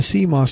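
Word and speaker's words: CMOS: and access your data Coss memory complimentary metal oxide semiconductor memory pronounced Coss is a type of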